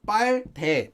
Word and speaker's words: 빨대: It's spelled as 빨대, but pronounced as 빨대 with a double letter here. This is just a sound change rule.